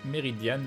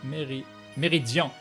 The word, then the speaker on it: Meridian: Merci Crane, PS mon pseudo, c'est Meridian, pas Méridian, pas Méridian. D'accord, on prononce pas le N.